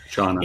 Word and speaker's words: Shana: Katie Shauna um from Business Insider and I got that right because I I kept pronouncing her name wrong. Shauna and I was tell Yeah, I was